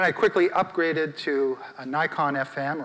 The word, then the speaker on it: Nikon: quickly upgraded to a nikon fm or nikon fm as it's properly pronounced i've been a nikon